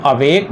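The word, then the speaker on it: awake: तो अवेक जो वर्ड है इसको हम दो उच्चारण खंडों में बांटते हैं, अवेक। समझिए इस बात को। तो अ आपका हो गया है अनस्ट्रेस्ड और वेक आपका स्ट्रेस देना पड़ता है, बोलते समय हमें जोड़ लगाना पड़ता है, तो ये आपका स्ट्रेट सिंबल हो गया।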